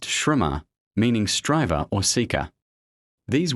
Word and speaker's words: Śramaṇa: Rama, pronounced Śramaṇa, meaning striver or seeker.